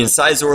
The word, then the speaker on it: Incisor: the Nerf alien menace incisor now I may be mispronouncing that but I think it's supposed to be in czor like the teeth that you have on in your head currently so what does this